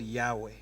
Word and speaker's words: Yahweh: If you try to pronounce YHWH, that is exactly. So to make it make sense, in English, they added the vowels A and E so that it's called Yahweh. But it's like you cannot pronounce it.